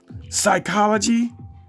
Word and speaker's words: psychology: Psychology, it starts with the P and the P is silent.